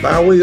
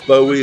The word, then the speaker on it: Bowie: wanna play David Bowie or Bowie or Bowie depending on your personal taste on how to pronounce it was a British rock